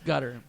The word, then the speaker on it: Qatar: ply the world cup from cutter or qar or you however you want to pronounce it gutter it's gutter you know clearly there's